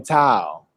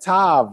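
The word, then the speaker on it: תו: The Hebrew alphabet consists entirely of consonants, the first being aleph and the last being tau. Now from the old chart I showed y'all seen it said tav, right?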